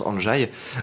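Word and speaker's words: Andrzej: ndr est 2e j voilà comme ça se prononce en jaye pour ses travaux sur le dosage en radio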